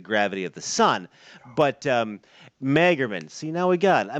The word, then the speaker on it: Magerman: Ladies and gentlemen, please welcome Magerman. If I'm saying, am I pronouncing your last name right? You know, just don't call me late for dinner, but it's Magerman.